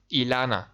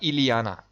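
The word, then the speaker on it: Illyana: Why do Americans pronounce her name Iliana? It's Ilana. Repeat after me, class. Ilana, not Iliana.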